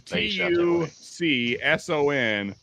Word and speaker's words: Tucson: where did I go how in the heck is t-u-c-s-o-n Tucson oh yeah that doesn't even it must be French or something it must be a French word that's the uh the